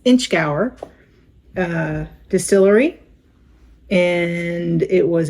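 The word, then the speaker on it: Inchgower: 11 year from space-eyed I've looked up how to pronounce this and it is exactly what it looks like it's inch Gower uh Distillery and it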